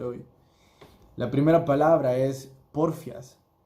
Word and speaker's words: porfías: La primera palabra es porfias. Porfías, perdón, lleva acento en la I, pero como no tengo mis lentes, no lo oí.